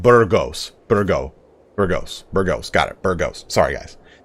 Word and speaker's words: Burgos: Burgos? That is not even how you pronounce it. Burgos.